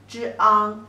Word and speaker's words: 丈: The pronunciation is 丈 zhang, 丈.